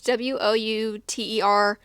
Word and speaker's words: Wouter: It's Wouter. I did look it up on how to pronounce it, and it was like kind of like Walter, kind of, but not.